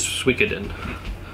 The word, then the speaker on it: Suikoden: mm-hmm also series it people don't seem to understand how to pronounce the name which I don't know either so I've heard it pronounced so many different ways that is Suikoden or Suikoden or any of the other variations of how people pronounce this believe it is Suikoden but this is complete